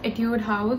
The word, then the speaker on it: Etude House: I use it's from etude house at your house I think that's how it's pronounced it's the soon-jong moisturizer